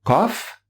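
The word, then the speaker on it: ق: france est là être kof elle se prononce en essayant d'arrondir la bouche et en l'ouvrant en fait si vous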